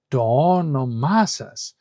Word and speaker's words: το όνομά σας: But if you say to onomasas, then you have a stressed syllable, an unstressed syllable, a stressed syllable, an unstressed syllable, which is much more rhythmic and much more easy to pronounce.